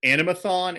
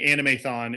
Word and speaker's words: Animethon: is it animathon animathon is there a preferred or specific pronunciation that's one over the other i feel like a balance so i'm still safe saying anime thon it's it can't it has been called that too well since i'm the